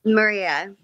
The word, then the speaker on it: Maria: Did you say her name is Marie or Maria? Maria.